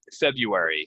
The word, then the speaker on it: February: hate this day um February no R um you can say the r but most people do not so if you want